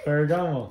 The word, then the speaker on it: Ferragamo: How do you pronounce this brand? Ferragamo.